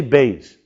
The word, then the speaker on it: Beis: Like a B. And let's pronounce it. Say Beis.